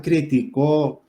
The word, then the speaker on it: criticó: Y si digo, Juan criticó el comentario de fulanito, entonces criticó, es aguda.